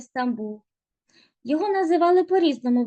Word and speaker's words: Стамбул: Константинополь було перейменовано в Стамбул турецькою звучить як істанбул деякі мовознавці жартома кажуть